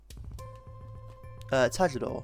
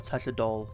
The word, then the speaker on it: Tajador: I say Tajador because it's Taka Kujaku Condor, but I've heard people say Tajador, because technically I think it's how the Japanese pronounce L's or something, where it sounds more like an R in English, but it is supposed to be an L.